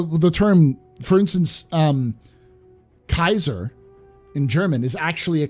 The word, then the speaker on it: Caesar: pope at one point julius caesar i'm sorry julius kaiser julius kaiser because c there is no c in greek or latin there's no s sound for c's all c's are hard k sounds did i study the